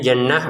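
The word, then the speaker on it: جنة: Kamali langsung ke jim ya, jangan kamali jan kamali jannah. Untuk kata jannatin perhatikan kita bacanya jannah untuk t-nya menjadi huruf ha.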